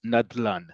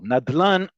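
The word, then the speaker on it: נדלן: In other words, we don't spell them out, we pronounce them as words. Nadlan is a great example. Nadlan, excuse me, is also not Hebrew. It's actually Aramaic. And Nadlan, as you see in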